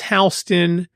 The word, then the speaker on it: Houston: Broadway in Halston and how it's Halston and why the city of Houston isn't called Halston or